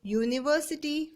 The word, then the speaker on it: university: We say university with a y sound at the beginning as though it was spelled youniversity.